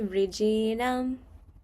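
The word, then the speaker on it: वृजिनम्: And then Sarvaṁ jñāna Sarvaṁ jñāna Plavēnaiva Plavēnaiva Now, you have to imagine the same thing. There's an I in the middle. So, it would be r̥jinam.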